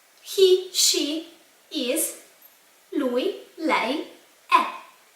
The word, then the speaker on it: è: He, she, is, lui, lei, è. This is letter E with a little accent on top and is pronounced like an open e.